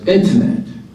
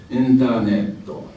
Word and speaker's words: internet: As internet, the word internet is internetto. How many syllables? Internetto. Seven syllables. Whereas in English it's internet, three syllables only.